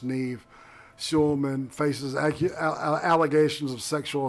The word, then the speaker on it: Nev: And it turns out that this guy, his name's Nev or Neve. It looks like Nev to me, but I was told it's pronounced Neve.